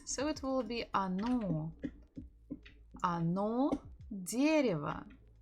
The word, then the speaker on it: Оно: Оно дерево. Оно. Stress on the second O.